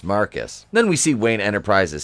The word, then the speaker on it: Marquis: feelings between ryan and marquise pronounce marcus then we see wayne